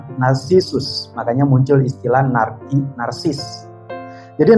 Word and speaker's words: Narcissus: Kalau dalam bahasa Inggris dibacanya Narcissus, makanya muncul istilah narsis.